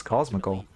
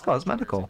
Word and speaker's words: Cosmetical: I always thought it was Cosmical. Oh, it is Cosmetical.